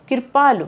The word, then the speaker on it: कृपालु: क्या होगा इसका उच्चारण? कृपालु।